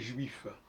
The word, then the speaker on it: juif: F on dit J qu'est-ce que vous remarquez que dans jou il y a pas F ce qui veut dire que la prononciation de juif c'est j jou il pas F le F ne s'entend pas comme dans la clé quand vous avez un f ça s'entend pas donc il faut dire